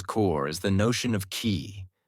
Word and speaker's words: qi: At acupuncture's core is the notion of ki, pronouncedq chi, the life force or energy flowing through the body along invisible pathways called meridians.